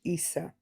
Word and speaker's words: Issa: I just want the the the pronunciation of um Jesus's name in Arabic. Uh just the Jesus part is Issa.